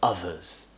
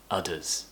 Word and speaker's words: others: you're a bit weird others others don't say udders father father feel your